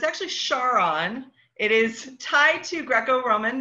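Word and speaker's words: Charon: largest moon which you can see there is pronounced Sharan or Karan so it's actually char on it is tied to greco-roman myth as most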